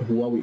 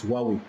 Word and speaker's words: Huawei: muka yi amfani da right pronunciation din is not Huawei is Huawei in kai amfani da